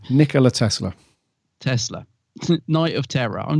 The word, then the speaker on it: Tesla: I keep saying this wrong n Nica Nicola Telsa how' you say his name Nicola Tesla Tesla night of Terror I'm just going to